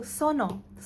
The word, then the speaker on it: Sunoo: Okay, so Sono. I'm so sorry, guys. Now I know how to pronounce his name. Hopefully that video was correct. But so Sono. Okay, apologies for calling him Sunoo.